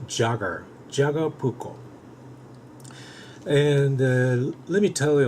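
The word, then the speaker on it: Jääkäripuukko: as you can see it looks like sound the Jakara pouco but it's not the a very sleek asite in there that they explained that this pronunciation appropriate pronunciation is Jagger Jagger pouco and let me tell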